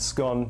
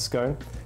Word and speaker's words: scone: Firstly, it's pronounced scone, not scone.